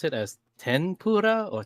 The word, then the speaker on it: tempura: Do you pronounce Do you pronounce it as tenpura or tempura? T with the M.